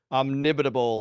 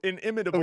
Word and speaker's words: inimitable: I mean, I literally was baffled, but that last word was like omnibitable or something. See, I think that's how you said it. I can't remember what the real word is. Inimitable.